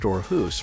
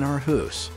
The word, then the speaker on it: Aarhus: To help you blend in with the locals, it's pronounced Aarhus rather than Aarhus.